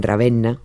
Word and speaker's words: Ravenna: Dante, sí, Dante murió en Ravena o en o en Ravenna, para que no me regañe nadie por la pronunciación.